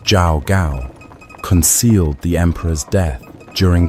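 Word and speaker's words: Zhao Gao: His prime minister Li pronounced Li Su and the chief unic Jao Gao pronounced Jao Gao concealed the emperor's death during the long journey back to the capital before dawn or the plan is ruined.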